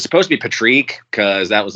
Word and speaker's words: Patrique: Yeah, because nobody ever said just Patrick. Nobody's like, it's just Patrick. Yeah. It's just Patrick. But I always thought Patrique, it was Patrique for what it's worth. Yeah, Patrique. Well, it is Patrique. Technically, it was supposed to be pronounced Patrique. I'll go Patrique. Patrique A sometimes is what it gets mispronounced as, but.